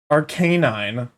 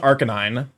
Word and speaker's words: Arcanine: I moved the emphasis of the word from to the second syllable for whatever reason. Arcanine. As opposed to Arcanine.